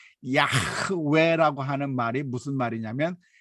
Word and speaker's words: 야훼: 사실은 여호와의 이름 입니다 우리가 여호와 는 그냥 정확한 발음은 아니고 야외가 정확한 발음이 라고 생각이 될 텐데 야훼 라고 하는 말이 무슨